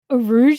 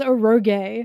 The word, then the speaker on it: Arouge: Arouge is his name. I pronounced it as Oro and everyone was like who?